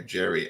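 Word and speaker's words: Geri: Gary, I would pronounce that, and Freki are Odin's wolves.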